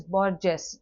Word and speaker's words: Borges: So sometimes you might see certain people pronouncing it as Borges, depending upon the fluency or the influence of the native language.